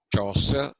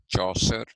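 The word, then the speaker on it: Chaucer: something that was used by people like Jeffrey choser c h u c a r choser and uh the great William Shakespeare so all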